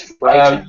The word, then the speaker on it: frightened: The way this word sounds is frightened. Yeah. GH is quiet.